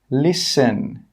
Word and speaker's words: listen: The letter T is not pronounced in these words. Castle, Christmas, gourmet, listen, rapport.